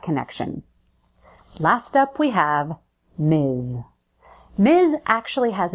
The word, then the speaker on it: Ms.: and mizfit the bill it's pronounced with a z so Buzz your vocal cords at the end Miz let's try a few examples Miz Brown M Rodriguez M